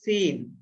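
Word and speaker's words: س: ঝা সিন সিন না সিন এটা দন্তস দিয়ে সিন এটা হলো সিন হ্যাঁ দন্তস দিয়ে সিন একটু বাতাস বের হবে আগেই সিন এরকম সিন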